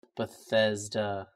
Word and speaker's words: Bethesda: Bessie to Softworks right Bethesda Bethesda remember we couldn't promote pronounce it before I was close yeah Bethesda Bethesda yeah there you go people we didn't do